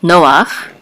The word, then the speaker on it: Noach: ve so and here notice that the accent mark on both of these no ox is in on above the first letter so I know that it is the accent is on the first syllable no off so Noah and this